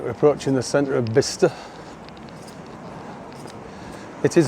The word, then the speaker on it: Bicester: Right, we're approaching the centre of Bicester. It is Bicester, not Bicester, like I used to think it was. Some strange spelling, but it is pronounced Bicester.